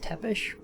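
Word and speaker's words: Țepeș: I've always heard it pronounced Tepish, and then spelled Tepes.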